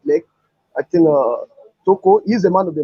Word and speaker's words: Toko: Toko. Did I pronounce it well?